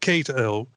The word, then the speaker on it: Cato: I guess it's Cato, isn't it? Cato, He made sure we knew how to pronounce his name. It's Ed Cato.